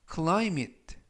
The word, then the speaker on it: climate: 표현이 되겠습니다 2번 표현은 clim it clim it it라고 발음하시면 되겠 품사는 명사 뜻은 기후라는 뜻을